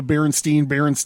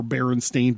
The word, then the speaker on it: Berenstain: I would like to say that I very clearly remember Berenstain Bears being Berenstain Bears. I clearly remember Berenstain Bears being Berenstain Bears. I very specifically remember it being pronounced Steen on the show.